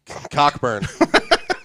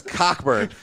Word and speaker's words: Cockburn: when we we did we both cockburn I don't care okay is silent I went to school bro c-o-c-k-b-u-r and his Cocker burn all you want but your name is cockburn you're still an amazing